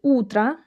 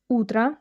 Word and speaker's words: утро: And in the word "утро", "утро", the last vowel sounds like "а". Like a reduced "а".